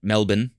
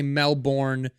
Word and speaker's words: Melbourne: been in Melbourne right Melbourne Yeah right they say you say male born they get mad at Melbourne Melbourne I get it